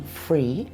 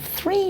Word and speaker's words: three: And in some recent studies, linguists have found a lot of people in England are saying free instead of 3 now. It's spread out from London. So do most people say free in England? Not most, but a large number. It's good news if you find the f sound hard to say. If you say free instead, we'll probably understand you.